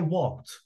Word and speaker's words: walked: So with all subjects, we say, I walked, you walked. And the last ed is pronounced like t here.